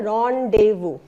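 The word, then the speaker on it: rendezvous: कई लोग बोलते हैं रेंडेज़वस या रेंडेज़वु। सो ये English is a very peculiar language. तो इसमें हम देखो प्रोनंसिएशन क्या है? रोंडेवू।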